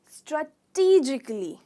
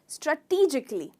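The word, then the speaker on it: strategically: तो इसकी प्रोनाउंसिएशन होगी स्ट्रैटेजिकली। स्ट्रैटेजिकली।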